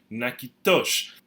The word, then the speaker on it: Natchitoches: Now the pronunciation in English is reflective of Anglicization, Americanization, but in Louisiana French and also in Cotivini, we pronounce it Natchitoches.